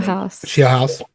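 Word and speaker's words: Scheelhaase: with new offensive coordinator Nate how do you pronounce the last name? Shieldhouse.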